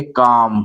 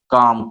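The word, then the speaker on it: calm: कालफ नहीं पढ़ेंगे। ठीक है? ऐसे यहां देखिए सी ए एल एम। एम से पहले एल आया है और ए से बाद एल आया है। तो हम इसको पढ़ेंगे काम।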